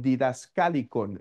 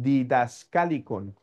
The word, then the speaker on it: Didascalicon: Entonces, él escribe un libro que hay diferentes formas de pronunciarlo, diferente eh de depende de qué tradición siga uno en la pronunciación del griego, pero podríamos llamarlo como el didascalicon.